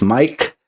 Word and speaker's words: Maic: My name is spelled M-A-I-C. It sounds as Mike.